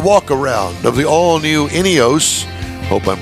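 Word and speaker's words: INEOS: I like it all right so did I pronounce it right inos yes inos Grenadier is the name of the vehicle inos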